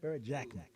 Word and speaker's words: Barrett Jackman: Barrett Jackman. Blues, with the Blues hat on, I'm getting his name wrong.